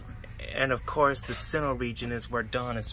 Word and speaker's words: Sinnoh: Shinoe? That's how you say it? Sinnoh.